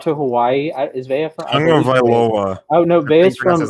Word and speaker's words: Tagovailoa: I always say Tagovailoa. It's Tungavailoa, which I don't understand how you get an N anywhere in there.